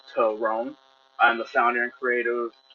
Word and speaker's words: Terone: My name is Terone, pronounced Terone.